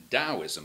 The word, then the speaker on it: Taoism: with taoism which is confusingly pronounced taoism like it has a d which is a chinese